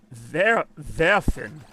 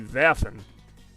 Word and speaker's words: werfen: It is spelled werfen. Just imagine the ver for...